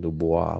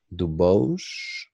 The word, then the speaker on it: Dubois: that last name wrong I said du Bois but it's not because it's missing that I in there that make a Dubois so it's like DuBose oh man I'm in